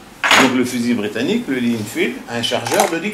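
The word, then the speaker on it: Lee-Enfield: Le Lee Enfield. Alors, ça s'écrit comment?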